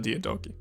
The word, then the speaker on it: Diadochi: I say Diadochi because I don't know about Hard Greek, but I know Classical Latin didn't have a soft C sound. So like Diadochi, Diadochi, I just say it like that. I don't say soft C's normally when I'm speaking old languages, just because I learned that from Latin.